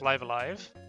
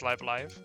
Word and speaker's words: Live A Live: How do you pronounce live alive? It's live alive.